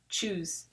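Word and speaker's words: chuse: It's just choose, like the word choose we know, just written a different way.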